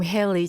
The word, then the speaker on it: Hayley: Yeah, it's the same, Hayley. As in Hangul, I think of Hedy as in, for some reason, spelt with an R in English. But no, you could spell it with an L.